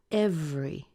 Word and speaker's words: every: look what happens here this is one of those words where the e gets squeezed out and you end up with just two syllables so instead of saying every we end up with F re every every every day day every day